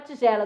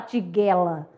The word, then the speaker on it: tigela: Mudando agora pra tigela do G e do J, né? Tigela é congelo, você não vai falar tiguela, né?